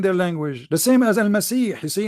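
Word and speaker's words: المسيح: You see, in Arabic I say Al-Masih, letter you don't have it. You don't have it in the Latin language. So you say Messiah, trying to make it close to the pronunciation.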